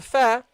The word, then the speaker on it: ف: The Fa is pronounced, brothers and sisters, by doing what? By putting this upper teeth on the inside of the lower lips. Okay, so the upper teeth, you put it on the inner side of the lower lips. Fa, fa, fa.